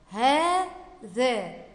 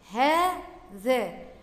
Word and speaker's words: هذا: اول كلمة عندي هذا، هذا. هنا في كلمة هذا بنطق بعد الهاء ألف ولا تكتب، يبقى هنا كلمة هذا بها ألف تنطق ولا تكتب بعد الهاء.